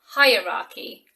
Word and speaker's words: hierarchy: Number 5 is really quite a tricky word to pronounce. Do you have any idea how this might be pronounced? It's hierarchy. Hierarchy.